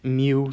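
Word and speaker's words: μ: of static and kinetic friction so this is pronounced mu sub s mu sub k so if you look in table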